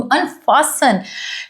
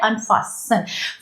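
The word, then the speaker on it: unfasten: एज़ he begin to अनफासन देखिए इसमें ये जो वर्ड है फ़स्टन इसको नहीं बोला जाएगा इसमें टी साइलेंट रहता है अनफासन फ़सन का मतलब होता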